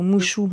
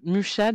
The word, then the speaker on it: Mucha: Musha ou Mouchou? J'ai pas bien entendu. Non, non, quelle horreur! Jamais Mouchou, jamais Mouchou. Non, Musha, donc Musha, je crois que ça s'écrit comme ça, M comme C ça, H A.